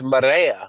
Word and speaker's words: Maria: If you can roll your tongue, it's Miriea. It's Maria.